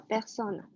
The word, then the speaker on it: personne: 没有问题，然后就是一些你们共同的问题，就是那个2的发音是 de，不是 do，知道了吗？还有一个就是 personne，我们不能发成那个英国的那个英语的 person，叫 personne，其他没有什么太大问题。哦，对，然后 Guy 的话，就是第一部分你想说的是温州是有很多商人是吗？